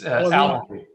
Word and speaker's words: Alavi: Alavi, did I pronounce that correctly? You did. Well, you did. It's Alavi.